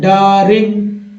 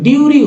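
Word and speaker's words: during: तो अब ड में यू लगाएंगे तो डरिंग हो रहा है क्या? डरिंग नहीं, डारिंग नहीं हो रहा है, डूरिंग लग रहा है, डूरिंग हो रहा है, डूरिंग, हाँ डूरिंग पढ़ देंगे लोग, लेकिन शुद्ध नहीं है दोस्तों, ड्यूरिंग होगा, ड्यूरिंग।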